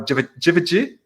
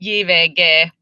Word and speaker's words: JVG: Well, it's a Finnish band singing in Finnish, so we say JVG. It's hard to Oh, say JVG, so I'll just say JVG because that's how it's pronounced in Finnish.